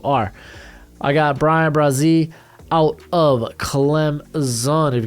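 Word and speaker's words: Bresee: I got Brian Brazee out of Clemson. If you've got a problem with pronunciation, take it up with Clemson's freaking roster page.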